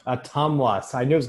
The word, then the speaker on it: Ottumwa: Evan, it's Atumwa. Atumwa.